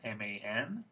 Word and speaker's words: man: So this word is man, M-A-N, and in woman we have the same spelling. So you might think it's pronounced the same way, but because of schwa, it's not. This is man, this is mun.